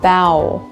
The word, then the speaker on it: bough: Number 5, we have the ow sound, like bow. The ough sound here sounds like cow or ow.